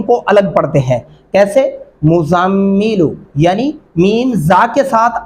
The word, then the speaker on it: المزمل: ہیں، یا ایھا المزمل، یہ مزمل لفظ غلط ہوگا۔ اس کا درست طریقہ کیا ہے؟ مزمل، یعنی میم کو زا کے ساتھ، پھر زا کو میم کے ساتھ ملائیں گے، اور اگر آپ پڑھ